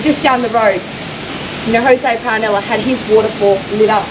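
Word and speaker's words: Paronella: We're doing the night tour of Paranella. Paranella? Parallel Park.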